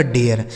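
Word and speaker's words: dare: इसको डेर नहीं पढ़ेंगे। क्या पढ़ेंगे? डी से हो गया ड। ए का उच्चारण यहां ए हो जाएगा। आर ई से र। यह लिखा गया आपका डेयर।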